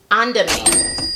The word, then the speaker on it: Andamane: Andamane.